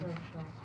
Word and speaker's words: Rochette: Am I pronouncing her name? Rochette.